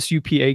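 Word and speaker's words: Supak: knew it all right her name is su PA k and it's supa supa supa Roxie and because one time she told me you say it like Tupac and so then I always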